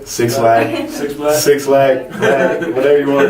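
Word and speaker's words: 6LACK: I 6, how do you say it? Black? Slack? Slack. Six Slack.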